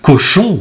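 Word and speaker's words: Cauchon: Seulement, pour cela, ils la confieront à l'Église, hein, et donc au fameux évêque Cochon, hein, et ça s'écrit C-A-U, C-H-O-N, hein, Pierre Cochon, évêque de Rouen, qui va donc instruire son procès.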